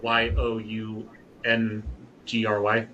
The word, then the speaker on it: Youngry: So, it's spelled like Young Plus Hungry. Uh, Yo U N G R Y.